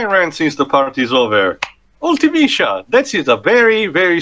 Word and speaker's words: Ultimecia: Ultimecia, that is a very, very stupid name for the English version. Why? The actual romanization of the name is Arutimecia, which is actually how it's pronounced also for their appearance in the Dissidia games.